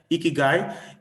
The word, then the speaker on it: ikigai: in recent times is a japanese concept called ikigai ikigai okay it's pronounced as guy like a gu here ikigai is a japanese concept that means a reason